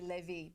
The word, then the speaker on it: Levi: we pronounce daughter of it should actually be Levy but we say Levi so people don't get confused who was born to